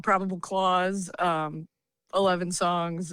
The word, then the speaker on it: Claws: gonna be called Probable Clause. 11 songs. It's a song about. So that's is it a Christmas album? No. Probable no, that's funny. Clause? No, it's actually spelled like CLAWS.